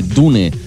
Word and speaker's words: Dune: diun si lo prefieres antes dije dune pero se puede pronunciar también de hecho se debería pronunciar dun Who wants to live